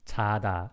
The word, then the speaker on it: 자다: Okay, you have to hear the difference in pronunciation, like, okay, 자다 and 차다. This one is 자다, not 차다. And this one is 차다, like more aspirated one.